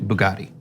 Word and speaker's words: Bugatti: I just saw a story coincidentally earlier today about a Bugatti, just Bugatti. It's pronounced, I woke up in a new Bugatti.